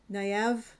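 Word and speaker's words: Nynaeve: does uh Naen na naive. No, naive. Naive as does. Okay, you got to admit that that name is spelled nothing like it's actually said.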